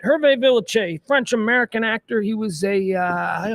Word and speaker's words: Villechaize: How about, and I'm going to pronounce it correctly, Hervé Villechaize. Hervé Villechaize. That's the French pronunciation. Hervé Villechaize. Villechaize.